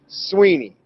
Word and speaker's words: Swinney: by dabba swinney and i know it's spelled swinney but it's sweeney don't ask me why i have no idea but that's how you say it they have some crazy